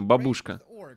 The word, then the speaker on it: бабушка: не надо ничего выдумывать на первый слог ударения бабушка бабушка блин хаха утром добавили